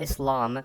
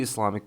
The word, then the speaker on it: Islam: And yes, it's pronounced Islam, not Islam, not Islam.